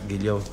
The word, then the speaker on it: Guillaux: la doctora Guilló. ¿Así se pronuncia? Sí, Guilló, exacto.